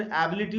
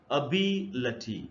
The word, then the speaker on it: ability: इसको हम लोग अक्सर एबिलिटी वगैरह ऐसे पढ़ लेते हैं, लेकिन अगर आप ट्रांसक्रिप्शन को देखें तो इसका जो जो करेक्ट प्रोनाउंसिएशन वो है अबिलिटी, ऐसे पढ़ना है अबिलिटी।